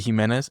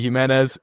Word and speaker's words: Jimenez: Today I'm talking with Himenez. You're the first person that pronounces it the right way, so thank you. Himenez, founder of Primal Trust down in South Florida.